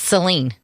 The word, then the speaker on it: Saline: in those two ways it's Celine that's what I said Salina you said Saline Salinas in Saline County saline oh Celine County yeah like saline solution okay Celine well even